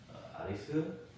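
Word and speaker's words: アリス: 저분은 아리스 씨입니다. 아리스 선생님입니다. 이렇게 보면 되겠죠. 자, 아리스는 이제 앨리스에서 온 말이죠. 그래서 A니까 아죠. L-I니까 리, C니까 스. 그래서 아리스가 됩니다.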